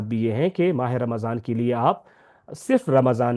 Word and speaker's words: رمضان: Calendar کا نواں مہینہ ہے جس کا صحیح تلفظ رمضان ہے۔ اس کی ادائیگی کے وقت اس بات